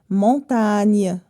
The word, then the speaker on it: montagne: sauf la consonne n lorsque la lettre G est devant n ça se lit ou bien ça se prononce mieux par exemple montagne la montagne pour que la lettre